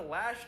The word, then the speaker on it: Loesch: 로이시 발음. Tragedy. Didn't mention the Second Amendment, and then later Dana Lash tweeted, well, Flano had weed on him.